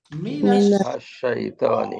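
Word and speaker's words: مِنَ الشَّيْطَانِ: তাহলে এখন আমরা এই জন্য ফাথা দিয়ে দিব, তাই উচ্চারণ হবে মিনাশ শাইতানি।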